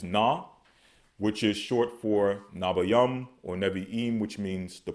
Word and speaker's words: Nevi'im: As we pronounce it, Nabayam. But as they pronounce it, Nevi'im. Okay?